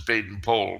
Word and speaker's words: Baden-Powell: manpower they didn't Powell Baden Powell okay he actually pronounced his baton pole but that sounds kind of weird and he was the